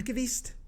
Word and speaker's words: Lundqvist: Lundqvist.